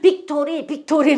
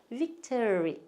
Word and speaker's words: victory: 우리 어릴 때 그냥 천군 이겨라 백군 이겨라 할 때 그냥 빅토리 막 그랬는데 빅토리가 아니고 victory 예, 이렇게 하셔야 돼요.